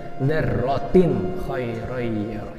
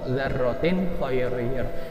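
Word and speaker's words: ذرة خيرا: Jadi cara bacanya dzarratin khairan. Cepat aja kayak seperti baca apa adanya. Ini kan tin bertemu kha, dzarratin khairan. Jangan dipanjangkan dzarratin, salah. Atau diengkan dzarratin, salah juga.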